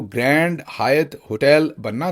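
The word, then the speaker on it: Hyatt: अक्सर लोग ये जो हायत होटल है इसे हयात होटल पाकिस्तान में यूएई वगैरह में अक्सर प्रोनाउंस करते हैं और वो समझते हैं कि जो अरबी का या उर्दू का लफ्ज़ हयात है ये वो है। ऐसा नहीं है।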